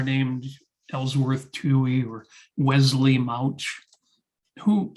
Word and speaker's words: Mauch: ellsworth tui or wesley mauch who a surprising number of people pronounce mooch even though it's not spelled that way i think that was